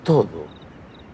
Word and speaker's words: todo: En esa recepción va a estar todo el mundo. En esa recepción va a estar todo el mundo. Todo. El la D es más como la th de then or there, todo el mundo y